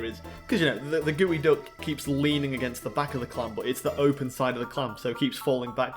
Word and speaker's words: geoduck: But either way, folks, this is a Geoduck, like gooey duck, but spelt with a PS for the Psyduck, you know, so Geoduck or Suiduck.